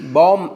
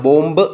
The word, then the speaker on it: bomb: അതുപോലെ BOMB, ബോം എന്നാണ് ഉച്ചാരണം, ബോംബ് എന്നല്ല.